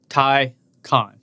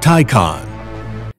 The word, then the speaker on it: Taycan: Taycan. That's how you say it. Taycan.